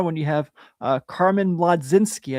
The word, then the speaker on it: Mlodzinski: So, tomorrow when you have uh Carmen Mlodzinski, I never know if I say his name right, but I don't care. Yeah, it's one of those weird ones where it's like you roll over half of his name.